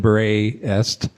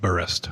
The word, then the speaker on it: Berest: I don't know anything about Tina Cover, the translator, or Anne Berest. I don't even know how to pronounce her last name, to be honest. The audiobook reader called it Berest.